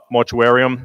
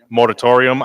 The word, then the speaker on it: moratorium: vote on the uh mortuarium i said it correctly moratorium i knew i said it wrong on the moratorium during